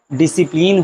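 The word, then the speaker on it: discipline: एस के तुरंत बाद सी आ जाए, क्या आ जाए? आपका सी आ जाए, तो ऐसी कंडीशन पे सी आपका क्या होता है? साइलेंट, अर्थात इसको नहीं पढ़ते हैं। बहुत ही आसान एग्जाम्पल है, जैसे मैं बता रहा हूँ साइंस हो जाए, डिसिप्लिन हो जाए।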